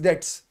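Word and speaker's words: debts: percentage नहीं होता है बी साइलेंट है इसमें बी साइलेंट आप बोलोगे बी है डीटी इसे डेट्स तो बेडस बेड डेट्स क्या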